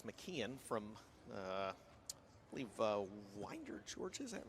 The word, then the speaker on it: Winder: Chris McKean from uh I believe Winder, Georgia. Is that right? It is Winder, yes sir. Yes, it's not Winder. No, I looked it up and it's Winder and so phonetically spelled it in my notes.